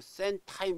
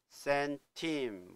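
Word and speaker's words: centime: timl로 나오니까 아 이거 센 타임 이렇게 할 것 같은데 아닙니다 발음 자체가 센 팀 썬 팀 이렇게 하죠 발음이 타임이 아니라 팀입니다 그러면 타임약 좀 못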